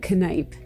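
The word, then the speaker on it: Kneipp: curcione and i'm the key account manager at canipe yup that's how you pronounce it connipe this year we're celebrating our 130th birthday and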